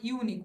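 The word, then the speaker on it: unique: কিন্তু উচ্চারণটা দেখবে সবসময় ইউনিক ওয়াই ইউ এইভাবে কিন্তু মানে কনসুনেন্টের মত উচ্চারণটা হচ্ছে তো সেই জন্য কিন্তু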